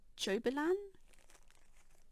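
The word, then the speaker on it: Jobelan: joe bleed gel bleed that i always mispronounce it's actually called jobilan it's show blue anyway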